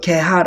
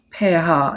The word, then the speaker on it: 폐하: 우리 는 ' 파에하 '( 폐하 ) 라고 말 합니다 . 우리 는 ' 개하 ' 라고 하지 않아 요 . 우리 는 ' 패하 ' 라고 발음 합니다 .